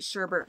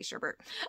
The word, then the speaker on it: sherbet: fresh vanilla the fruity sherbet scoop I say sherbet even though it's spelled sherbet but I always say Sherbert um rainbow sherbet zesty